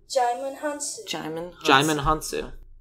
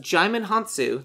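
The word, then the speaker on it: Djimon Hounsou: I know you gotta look it up now diamond han-soo it's pronounced Djimon Honsou says the Internet got it and you know what we did the right thing and looked it up correcting ourselves Shimon Han soo is a good cast so I'm okay I'm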